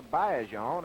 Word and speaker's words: Baillargeon: lines we know Adrien Bayer on or Bon as he tells me the correct pronunciation is we know that Adrien